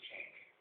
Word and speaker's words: Cenk: His name's Cenk. It's how it's pronounced.